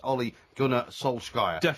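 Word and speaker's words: Ole Gunnar Solskjær: talk about and that's olle gunar solky and I say it that way because that is the absolutely correct way to pronounce it OE gunar Sola not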